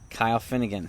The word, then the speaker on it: Kyle Finnegan: from the nationals yes name starts with k and it rhymes with isle finnegan yes kyle finnegan does anybody know what